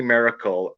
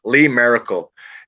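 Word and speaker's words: Lee Maracle: chance look up lee miracle l-e-e and her last name is spelled m-a-r-a-c-l-e not m-i like miracle but miracle m-a-r lee merkel she's a poet uh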